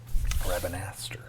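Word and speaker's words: Rabanastre: Uh, Rabinastri, Royal City. Rabinaster. At least in the game they say Rabinaster.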